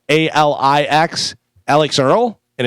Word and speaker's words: Alix: I was trying to figure out how to say this next person's name because it looks like Alex, but it's with an I. Alix, Alex Earl, and it's a female.